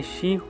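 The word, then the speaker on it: 四: तो दरअसल जापान में 4 नंबर को अशुभ माना जाता है, क्योंकि 4 का प्रोनाउंसिएशन जापानीज में शी होता है, जिसका मतलब डेथ भी होता है।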